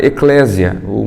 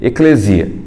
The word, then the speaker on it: ekklesia: Jesus ele utiliza uma palavra que se chama eclésia, a melhor pronúncia seria eclesia, né?